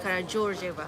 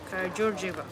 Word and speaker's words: Karađorđeva: Oh, it's Karađorđeva. It's pronounced. It's written Karadordeva, but it's pronounced Karađorđeva. So D is G. No, Like Portuguese. Karađorđeva.